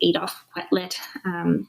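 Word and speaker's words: Adolphe Quetelet: So originally, most people go back to a man named, I'm going to pronounce it correctly, Adolf Quetelet, who was, I believe it's a Belgian mathematician,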